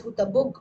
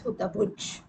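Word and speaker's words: हुतभुज्: It ends in j. We pronounce it as Hutabug while saying. Main word is Hutabhuj.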